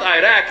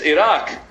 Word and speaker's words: Iraq: If you're gonna bum us, I did pronounce it right. It's not Iraq, it's Iraq.